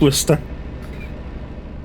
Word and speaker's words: Worcester: Yeah, we don't say Worcestershire and from when you're from the place. It's just Worcester.